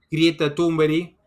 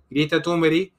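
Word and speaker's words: Greta Thunberg: Gates por un lado grieta tumberi algunos le llaman grieta tumber pero no se pronuncia así por cierto grita Tumblr en otro lado Bill Gates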